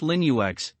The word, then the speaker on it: Linux: and feel of mac os over windows linux pronounced linux is a family of open source operating systems